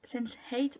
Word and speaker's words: Sense8: on s'en fout, enfin peu importe comment vous prononcez, moi je le prononce Sense8 parce que c'est comme ça que ça se prononce en anglais.